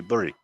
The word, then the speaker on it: Bury: is technically right because the people in bury don't say Barry they do say bury you're technically right love because the people who live there say it like you yeah so you can